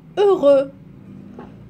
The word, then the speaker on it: heureux: je vais lire ici heureux heureux donc la lettre X ne se prononce pas ou bien choix le